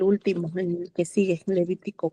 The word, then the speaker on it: Levítico: Ah, es que creo que creo que a veces está la confusión con Levítico porque en inglés es como Levíticus, ¿no? Así se pronuncia.